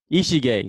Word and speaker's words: Ishige: and Rica tiny doll how do you say your last name EGA Ichi gay so Rica tiny dog